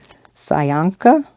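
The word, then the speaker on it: pysanka: don't know the pronunciation sayanka p-y-s-a-n-k-a i'm assuming the p is silent no so that the kind of like psychiatrist maybe it's just sanka what color jelly bean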